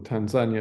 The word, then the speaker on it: Tanzania: Safari uh in Africa Tanzania I believe or Tanzania is the locals pronounce it um so something that